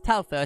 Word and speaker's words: Touhou: It's Touhou.